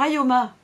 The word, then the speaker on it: Ioma: Alors Ayoma, ça s'écrit Ioma. Si vous le mettez à l'envers, c'est pour ça que je vous le disais au début, ça veut dire à moi.